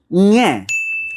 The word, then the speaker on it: Ng: Ñe.